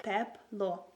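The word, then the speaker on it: тепло: So if you want to say warm in Ukrainian, you would say it like teplo. Teplo, teplo.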